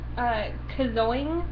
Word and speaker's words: Kazoing: First, there's a place called Kazoing, and that's spelled K-A-Z-O-I-N-G, Kazoing Party and Play.